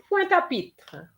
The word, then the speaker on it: Pointe-à-Pitre: It's Pointe-à-Pitre. Pointe-à. So what we're going to do, we're going to have the te and the a in one go.